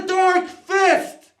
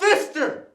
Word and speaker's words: Dark Fist: It's the Dark Fist! It's not Fister! Take the ER out of it!